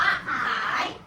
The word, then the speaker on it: ขาย: ข ไข่ ไม่ ไม่ เหมือน ค ควาย ออก เสียง ข ค ข ไข่ ออก เสียง ข ออก เสียง ต่าง กัน นะ คะ อัน นี้ อ่าน ว่า คาย อัน นี้ อ่าน ว่า ขาย ใบ เตย ใน